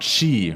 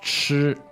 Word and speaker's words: 吃: And that 好吃, the 吃, that's not chi, right? It's 吃. Oh, yeah. I noticed that sometimes foreigners will just pronounce it like chi. Yeah, it's not Spanish. 好吃。 Yeah, so one way to think of this as take the English word like a chirp, like a bird chirps, and you just kind